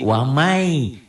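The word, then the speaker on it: وَمَنْ: ada tuh dilihat kalau ditulis latin kan waman Coba wa a waman w a m a n waman yabtagi dibacanya menjadi wamai Bunyi n-nya melebur pada y Lan nadwa memang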